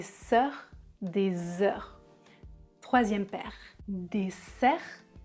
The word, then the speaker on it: dessert: la différence des sœurs des heurs trisème paire dessert désert dessert déser des der et enfin la dernière ils